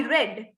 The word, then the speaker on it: read: If it is past tense, it should be I read. Same spellings එකමයි, අකුරු වෙනසක් නැහැ. The only difference is the way we pronounce it.